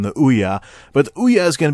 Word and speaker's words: Ouya: just totally first yes i am saying it right it does rhyme with booyah hence the title but the ouya is really everything that